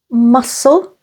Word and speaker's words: muscle: C is silent after an S, like in the words muscle, scent, scissors.